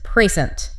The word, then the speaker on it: precent: Word 11 is precent. P-R-E-C-E-N-T. Now, this just looks like the word present, like a GIF. It does, but it's a verb, and the stress is on the second syllable. Precent. Precent.